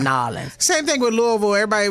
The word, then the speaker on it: New Orleans: They say it like it's two words, New Orleans. Right. It's New Orleans. It's one word, Nawlins. Nawlins.